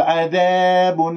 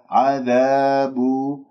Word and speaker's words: عذاب: عذاب، لا تقول عذاب عذاب أليم، انتبهوا بارك الله فيكم، لا تنطق الألفات ممالة هكذا تبتسم وتسحب اللسان وتخلي اللسان منبسط، لا، عذاب.